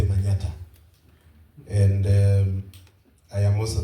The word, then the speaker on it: Manyatta: It comes from the word Manhattan but we can't pronounce Manhattan because of our culture. So we say manata and um I am